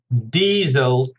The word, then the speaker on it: diesel: Diesel, 2 syllables, stress on the first, diesel.